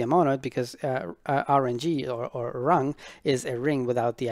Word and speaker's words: RNG: the first one is going to be a rung and it's spelled it's pronounced wrong but it's spelled as